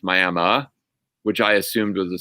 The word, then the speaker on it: Miami: the name for us it's spelled miami but it's pronounced miama which i assumed was